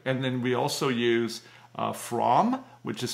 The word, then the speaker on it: Fromm: And then we also use Fromm, which is spelled F-R-O-M-M.